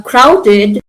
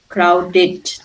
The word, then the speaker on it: crowded: Now, crowded is pronounced with dash ending. ID. ID. ID, very good. It. Okay, why? Because the d or the t ending in a word, always the pronunciation is it.